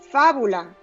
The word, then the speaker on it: fábula: Vas a dividir en sílabas. Fa, bu, la. Vas a acentuar si es necesario. Por lo tanto, debes identificar la fuerza de pronunciación. Fábula. Viene siendo una esdrújula por estar en la posición antepenúltima, por lo tanto siempre se va a acentuar.